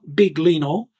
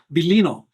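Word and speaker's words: Biglino: Marl bino it's not big Leno so some of you that think that no it's not that it's an Italian name belino the g is silent so Maro he refers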